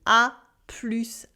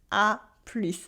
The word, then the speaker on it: à plus: A plus, A plus. And here what's funny is that we add the S sound at the end of plus that did not exist in A plus tard.